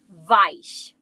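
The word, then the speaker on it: weich: Number two, vice. Do you hear that VV? How we pronounce our W's? Like a V.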